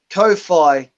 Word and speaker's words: Kowhai: Ko-Fi. It's spelled Kowhi. AI? AI. Kowhai?